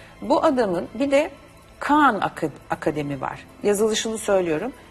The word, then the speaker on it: Khan: Aynen okunduğu söylediğim gibi yazılıyor ve okunuyor. Bu adamın bir de Khan Akademi var. Yazılışını söylüyorum. K-H-A-N.